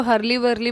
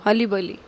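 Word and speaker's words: hurly-burly: हर्ली बली, ठीक है, कोई कोई इसको हरली वरली पढ़ते होंगे, बट इसमें जो आर होता है वो साइलेंट होता है। हरली बली कहते हैं इसको, हली बली।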